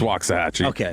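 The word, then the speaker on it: Waxahachie: It's waxahe. You get some that'll say wax, but There's a little bit of Lancaster Lancaster.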